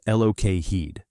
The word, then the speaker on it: Lockheed: The Lockheed P38. Lightning pronounced Lok Heed was unlike any other fighter in US service.